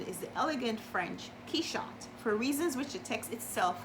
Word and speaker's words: Quichotte: he shot he shot and I know it's key shot because the book opens with an explanation of how to pronounce it it's called quixotic notes on pronunciation